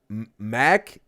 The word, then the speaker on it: Magne: Magne. Or not like the knee, right? Not like the knee on your leg, but it's ne. Magne. Like Mac, right? The Big Daddy Mac. And ne. Not knee.